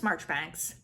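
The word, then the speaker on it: Marjoribanks: Lucilla March thanks and yes it is pronounced March Banks I don't don't ask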